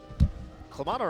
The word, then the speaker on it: Clamato: who acts used ya Clamato rhymes with Donato you get me spinning